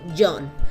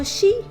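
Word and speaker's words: 四: El número 4 en japonés se puede pronunciar como Jon, pero también como Shi, que suena exactamente igual que Shi, que significa muerte.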